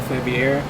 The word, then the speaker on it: Faviere: wall street journal i'm here with joe joel february yep you said it right i'm impressed dude